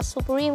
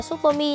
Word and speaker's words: Supreme: Con này đọc là Supreme, không phải là Super Me nha mọi người.